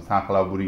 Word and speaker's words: سنگ خلا بوری: یه شهریه به نام نوشته میشه سنگ خلا بوری ولی خب اینا مثلا خرو یه چیزی بین ک و خ تلفظ می سنگ خلا بوری میشه یه همچین چیزی رفتیم اونجا که تو